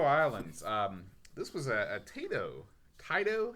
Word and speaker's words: Taito: Taito? How do you say it? I say it both ways. Taito and Taito, whichever way the mood strikes.